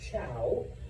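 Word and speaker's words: Zhou: A group of people known as, it's pronounced Chow, even though it's spelled with a Z. A group of people known as the Chow are able to cross the Gobi Desert and defeat the Shang society.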